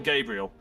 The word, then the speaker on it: Gabriel: Is it Gabrielle or Gabriel? Uh, Gabriel.